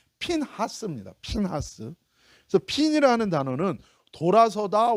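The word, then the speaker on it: פינחס: 원래 이 비나스라는 이 히브리어 정확한 발음은요, 핀하스입니다.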